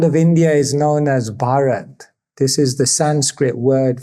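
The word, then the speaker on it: भारत: And it's made up of 3 syllables. Bha means bhav, which means emotion. Ra means rag, which means melody. And ta means tal, which means beat.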